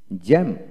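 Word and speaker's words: jamb: তারপর আসেন জে এ এম বি জ্যাম জ্যাম, বি হবে না।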